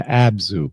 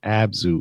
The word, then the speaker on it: Abzu: charge of the abyss, or in Samaran, the absu spelled abu. What is an absu? AB Zu.